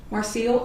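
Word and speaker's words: Marcille: Um, my name is Marcel. Marciel. M A R C I L L E.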